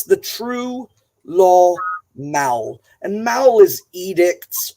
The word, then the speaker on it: lög: so um the word law the G sound is really soft in there um I don't know